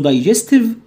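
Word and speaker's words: digestive: اسمه دايجستيف سيستم، داي جستيف، اس جي جاي وراها اي بنطقها جا معروفه، داي لونج اي ج شورت اي ستيف، دايجستيف سيستم.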